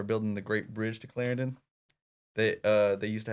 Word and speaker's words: Clarendon: named Clarendon Arkansas and that is how you say it so if you're thinking back at home how to say that it is Clarendon actually have a funny